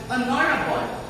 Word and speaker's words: honorable: So, if we are using the words with a silent H, such as honorable or honest, then we should use an.